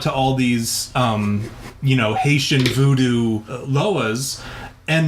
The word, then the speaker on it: Loa: that demon is actually a Haitian Lao that like he was talking about, or Loa. I'm sorry, I pronounce it wrong.